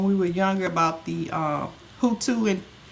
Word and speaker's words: Hutu: We talked about things that happened in our lifetime, like when we were younger, about the Hutu, and it's pronounced Hutu and Tutsi.